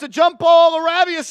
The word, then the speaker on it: LaRavia: it's a jump ball laravia laravia I think is how you say it there are some creative